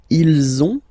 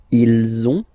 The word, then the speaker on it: ils ont: Okay, and then you will have to make the little link between the two. Ils ont, ils ont, ils ont.